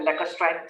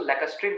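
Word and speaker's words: lacustrine: जो सेकंड होता है उसको हम बोलते हैं लैकस्ट्राइन सॉइल। क्या बोलते हैं? लैकस्ट्राइन सॉइल। बहुत सारे उसको लैकस्ट्रीन बोलते हैं, तो जो आप प्रोनाउंस कर लीजिए, ठीक है, लैकस्ट्राइन सॉइल, ठीक है।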